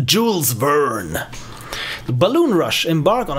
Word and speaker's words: Jules Verne: Jules Verne novel or Julian how you want to pronounce it I've realized that he's a French author but Americans tend to tend to Americanize everything and he is not Julian is Jules Verne the balloon rush embark